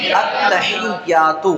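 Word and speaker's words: التحيات: پڑھا جائے گا۔ تو حمزہ کو تا سے ملا کر پڑھیں گے، حمزہ تا زبر ات، تا زبر تا، اتا۔ اس میں نہ حمزہ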